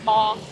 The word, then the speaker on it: bò: bò.